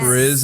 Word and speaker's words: Riz: Yeah, it's like one syllable. Totally. It is one. She's got a she's he's tiny. What's his name? Yep. He's Pakistani. Yeah, British Pakistani and Riz Ahmed and she's got